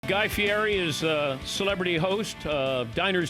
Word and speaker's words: Guy Fieri: my audience who were saying that I was mispronouncing it and my wife's Italian so I said no I it's Guy Fieri what do you have behind you that that